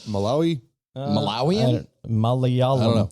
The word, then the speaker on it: Malayalam: malawian like malawi malawian malayalam i don't know like the uh probably saying it wrong spell it uh m-a-l-a-y-a-l-a-m like it sounds like malay malaysia i think malaysian would